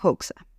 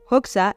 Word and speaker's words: Hoxha: importante de este país, que se llama Enver Hoxha. En albanés, su nombre se pronunciaría Enver Hoxha, pero se escribe Hoxha, Hoxha,